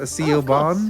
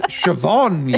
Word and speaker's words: Siobhan: I probably get canceled the CEO Bond of course oh sorry it's Siobhan you say hold on